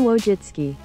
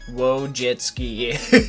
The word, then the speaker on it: Wojcicki: can just type it how to say wojinski and it will tell you Susan wojitski Susan wojitski and you can go slow Susan wojitski whoa jet ski so we finally know